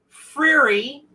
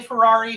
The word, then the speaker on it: Freary: And Kimberly Lennon Freary finally told me how to pronounce her name. I used to say Ferrari, Fieri, Guy Fieri, all that. It's Freary.